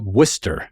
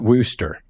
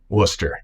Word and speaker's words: Wooster: you came to Worcester brush so it's it's pronounced Worcester right not Worster Worcester correct Wester all right all right just make